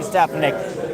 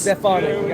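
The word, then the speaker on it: Stefanik: I mean, look, I mean, I think it probably will be Stephanick. I do like somebody like Curtis. Stefani. Stefani. Thank you. Sorry. You're right. I'm totally mispronouncing it.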